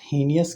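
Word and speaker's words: heinous: Next question पर देखते हैं, 12th number, dash हीनियस crime. अब यहाँ पर देखिए इसका प्रोनाउंसिएशन होता है हीनियस, आपका हा साउंड आएगा जो कॉन्सोनेंट है, और कॉन्सोनेंट के लिए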